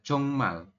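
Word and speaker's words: 정말: jongmal seperti ini ya jadi bacaannya adalah jongmal tulisannya kayak gini jeongm tapi dibacanya jongmal jongmal seperti itu Sampai sini bisa dipahami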